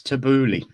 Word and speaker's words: tabbouleh: And I remember the first workshop I ever did with you, where you got us tabbouleh, which was absolutely lovely.